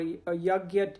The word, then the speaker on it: yagna: the word yagna or yagya into English. So when they say sacrifice, that's what it means, yagya. So basically, I'm going to say yagna because that's how they say it in the mission.